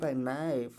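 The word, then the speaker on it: knife: प नॉक पड़ा जाएगा उसी प्रकार एन है एन से पहले के है तो के क्या हो जाएगा साइलेंट हो जाएगा क्या नाइफ नाइफ मतलब चक बात समझ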